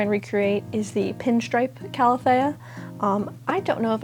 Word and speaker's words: calathea: recreate is the pinstripe calathea. Um, I don't know if I'm saying calathea right. I should Google that. Calathea. Calathea. Apparently, it's cala-thee-uh, not cala-thay-uh.